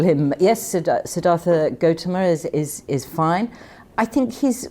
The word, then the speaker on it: Siddhartha Gautama: Am I right in calling him Siddhartha Gautama, or is there a better way to pronounce it? You could call him, yes, Siddhartha Gautama is fine.